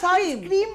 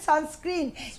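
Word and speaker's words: sunscreen: স্ক্রিনিং করার পরে এটাকে সানস্ক্রিন মনে করি না সানস্ক্রিম নয় এটা উচ্চারণ সানস্ক্রিন এস সি আর double E এন স্ক্রিন স্ক্রিনিং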